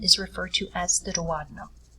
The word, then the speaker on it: duodenum: referred to as the duodenum. It looks like duodenum when you spell it out, but it's pronounced duodenum.